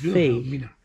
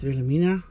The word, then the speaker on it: Wilhelmina: De V spreek je uit als een V. Wilhelmina. Als een W. Dus we zijn gewoon Wilhelmina.